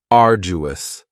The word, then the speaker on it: arduous: you don't hear that D sound that much it's not very strong it almost sounds a little like a j arduous arduous something that is